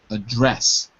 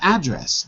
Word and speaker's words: address: recognize that's it and the other one is to address not address but is a verb to address second syllable address good so as a